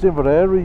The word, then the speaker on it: Inveraray: Or ask a Scots person, like, how do you pronounce that? Yeah. And I go, that's Inveraray, you dumbass, that's what they say, isn't it?